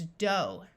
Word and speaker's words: dough: There are other vowel sounds that can be used with a silent GH. In this word, we have a long O sound, so this word is dough.